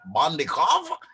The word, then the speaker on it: Bondikoff: And now you've got the boss lady, Alexandra Bondikoff. Did I pronounce that right? Yes, you did.